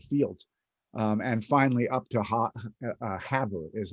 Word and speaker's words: Havre: And finally up to Havre is how they pronounce it, and spent a couple days up there for the book.